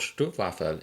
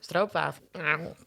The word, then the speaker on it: stroopwafel: Let's say about it's called Stroopwafel, is it? Stroopwafel. Did I pronounce it in a more German way?